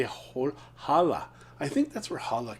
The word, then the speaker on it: hola: Or maybe I should say hola. I think that's where holla came from. Hola. Hola. And people are like, but the H is silent in Spanish. And they're like, no, hola.